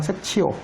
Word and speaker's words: sectio: 보통 중세, 교회 발음은 이럴 때 섹치오라고 보통 읽어요. 섹치오.